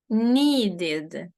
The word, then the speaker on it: needed: ось це про третє правило Значить ми скажемо needed зрозуміли сподіваюсь що так давайте послухаємо ось ці речення послухаємо ось цю вимову і повторимо 11.